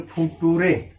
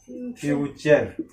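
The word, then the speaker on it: future: अब बताओ ये पढ़ेंगे फुटूरे। क्या पढ़ेंगे हम? अगर जानकारी नहीं तो क्या पढ़ेंगे? फुटूरे। ये गलत है, क्या होगा? फ्यूचर।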